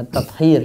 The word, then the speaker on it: Tathir: Soleh Al-Musallam saat menulis tesisnya yang berjudul Qatir An-Najasat sempat mengadakan kunjungan ke peternakan ayam Al-Wataniyah untuk memastikan itu bacanya tathir ya, tathir An-Najasat. Iya.